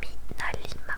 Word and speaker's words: MinaLima: Je vous remets le nom Minalima, comme ça se prononce.